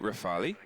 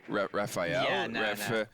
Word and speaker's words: Rafale: I used to Kiryat you go Rafale Rafael silent e in the meantime rn0 has